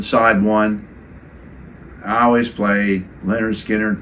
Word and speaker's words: Lynyrd Skynyrd: Born to Run side one I always played Leonard skinnard pronounced side one I mean you know we wore